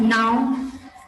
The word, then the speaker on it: know: What is the meaning of now? K-N-O-W. In this, K is silent, so we actually pronounce this word as now.